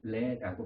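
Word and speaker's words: Lê: 우리는 이라고 쓰는데 그들은 레라고 발음을 한다고 해요.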